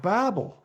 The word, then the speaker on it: Babel: The tower of of of Babel. I call it I pronounce it Babel. It just makes more sense. I mean, what do little kids, little babies do when you don't understand them? They babble.